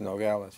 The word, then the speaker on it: Nogales: all right you were born in 1934 in Nogales right is that how you pronounce it that's Nogales yeah Nogales Arizona your father was a general